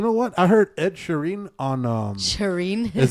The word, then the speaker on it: Sheeran: Is that how you say Sharon? Ed Sheeran. Sharon. Sheeran. Sharon. Sheeran. That's how they say He got it them in- crazy ass eyes though. But anyways, does. yeah. No, that's how they say it in the King's English.